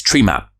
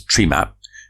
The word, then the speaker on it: Tremap: the house for trees tree map and around the world of course TR map will probably pronounced as tree map in Cornwell it's often treemap because you know trian Trio you